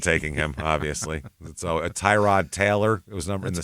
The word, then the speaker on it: Tyrod: Obviously, so Tyrod Taylor. It was in the sixth round that year. Yeah. So some interesting guys. I just recently found out his pronunciation is Tyrod.